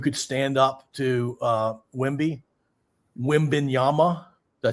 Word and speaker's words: Wembanyama: Wembanyama, did I say it right?